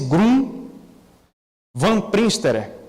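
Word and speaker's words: Groen van Prinsterer: trazendo essa citação aí desse historiador holandês chamado pronuncia-se Grum van Prinsterer.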